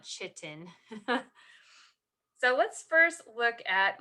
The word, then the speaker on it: chitin: at cellulose and chitin that's pronounced chitin not chitin so let's first look